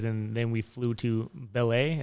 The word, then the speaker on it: Belém: then we flew to Belém. Is that how you say it? Belém? Okay. Yeah. I've been saying it wrong for like 3 years now.